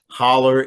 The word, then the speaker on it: hollow: Uh in our vernacular of central Appalachia, holler is how we pronounce the word hollow.